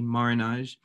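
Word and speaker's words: marronnage: over time in different ways i tend to spell it m a double r o n a g marinage and it is a french word that is a noun that has the effect of a verb uh marinage initially came into being in uh if we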